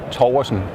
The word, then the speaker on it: Torgersen: I'm Danish, and in Danish it's Torgersen. Oh my gosh. Here we say Torgersen.